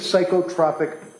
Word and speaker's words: psychotropic: What is psychotropic medication with adverse reaction? What does that mean? It's pronounced psychotropic.